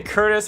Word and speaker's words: Curtis: So Chris is one that I hear often because of because if you say Curtis really fast, it without you don't like annunciate the T the Curtis, it sounds like Chris.